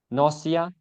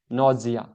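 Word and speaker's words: nausea: Next word है नौसिया या फिर नौजिया। ब्रिटिश प्रोनाउंसिएशन है नौजिया और इंडियन प्रोनाउंसिएशन है नौसिया।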